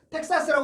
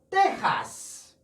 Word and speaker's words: Texas: 텍사스라고 하지 않고요. 테하스. 테하스.